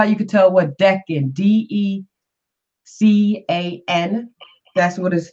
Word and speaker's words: Decan: That's how you can tell what Decan, Decan. That's how it's pronounced. I used to pronounce it Deacon until I understood that Decan was short for decade, which is also decade, which is 10.